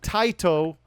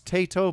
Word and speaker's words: Taito: so 19 in 1988 taito maybe some people pronounce this tato but the japanese would be tight taito released uh superman uh